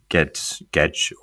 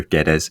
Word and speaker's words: Guedes: obviously, as you mentioned, Rodrigo Gomez started and Gedge, or you always do the proper pronunciation, I'll go Guedes.